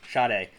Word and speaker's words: Sade: some papers sayed oh sade that's how it's pronounced shade a black woman early 30s enters the room